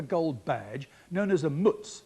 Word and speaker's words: mutz: tassels and a gold badge known as a mutz it's spelled m-u-t-z were sold at auction in August